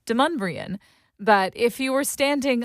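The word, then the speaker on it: Demonbreun: It's Deumbrian.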